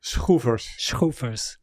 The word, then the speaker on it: Schoevers: Shhuers.